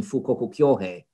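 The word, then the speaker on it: 富国強兵: 1860s, they reused this under the Japanese pronunciation, Fukoku Kyohei, but they revisited this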